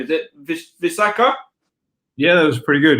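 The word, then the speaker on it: Visakha: I don't know how to pronounce the name. Is it Visaka? Yeah, that was pretty good. Yeah, Visaka.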